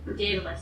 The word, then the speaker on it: Daedalus: Starts with a D, ends with a S, and rhymes with Aeschylus, sort of. Who? Wait, no, Pegasus. Rhymes with Pegasus. No idea. I have no idea. Daedalus, it's Daedalus.